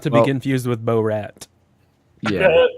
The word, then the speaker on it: Borat: Bo Rat. Not to be Well- confused with Bo Rat. Yeah. Not close enough. That's Definitely. Borat. Oh, it's Borat. Sorry. You got to pronounce it right.